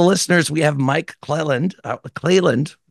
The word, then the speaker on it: Clelland: Clelland, I pronounced that correctly, not Cleveland, as you may have thought when you first saw the title of the episode.